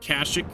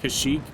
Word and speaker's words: Kashyyyk: Chewbacca is from kashik either and yeah I pronounce it kashik instead of kashik because I like that pronunciation better and it's